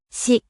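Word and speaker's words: 四: Le chiffre 4 se dirait Si.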